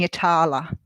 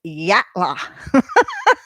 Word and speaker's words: Yatala: And I was saying Yatala. I thought it looked like Yatala to me. And being Australian, it's Yatla. Yatla. So when the woman said to me, "You're saying it wrong," I was like, "No, I'm saying it how it's spelt."